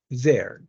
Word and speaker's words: they're: the same pronunciation yeah sometimes people say this like they are they are or they are well make sure you read this like there there from Argentina there there from Argentina